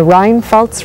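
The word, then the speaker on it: Rheinpfalz: We're in a wine growing village called San Martin in the Rinfaltz region. That's how you pronounce it.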